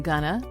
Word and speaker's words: gonna: Now, did you notice that going to has become gonna, you become softer, and later, the word later, has stress on the first syllable, which is lay.